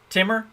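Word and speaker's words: Timur: Timmer? Timmer. I will pronounce it correct from now on. Like Tigger.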